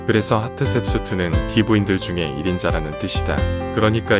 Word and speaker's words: 하트셉수트: 복수형 어미는 우이기 때문에 세트를 셉수트라고 발음하는 것이다. 그래서 하트셉수트는 귀부인들 중에 1인자라는 뜻이다.